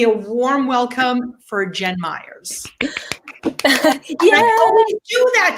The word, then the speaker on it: Mayers: correct. You say it correctly. It's Myers. It is Myers.